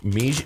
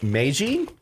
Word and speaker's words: Meiji: you guys are gonna love now i'm gonna pronounce it wrong and butcher it but it's called meiji meiji meiji m-e-i-j-i okay these are also from japan